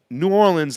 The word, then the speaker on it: New Orleans: the south i learned we'd be saying new orleans like damn yankees it rhymes with new war winds yeah pasta is from